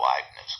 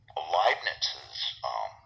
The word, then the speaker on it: Leibniz: It's a statement that could be anywhere from 5 or 10 pages to 100 pages, and Leibniz's Leibniz rhymes with Liebchen, which is like my love.